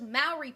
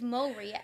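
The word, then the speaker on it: Māori: be like oh yeah those Mauy people in New Zeal like no that's not how it's said like it's moy if you're not going to roll the R and I'm bad at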